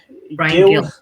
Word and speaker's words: Gil: Brian Gill. Yeah. I think they pronounce it in Spain as Hill, don't they? Yeah. But for intents and purposes for us English, Gill.